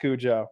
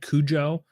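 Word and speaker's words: Cujo: he probably meant to be said Kujo like as an Americanized because if a family in Maine owns it like they're probably not saying Kuho like they would just say Kujo.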